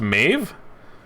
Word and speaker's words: Maeve: playing the maeve maeve it's pronounced maeve i say thing oh like westworld okay gamble's up go